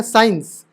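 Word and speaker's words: science: ई बन गया ना साइंस तो भैया स्का क का नहीं पढ़ रहे ये देखो ये साइलेंट है ये साइंस पढ़ेंगे दूसरा फंडा इसमें मैंने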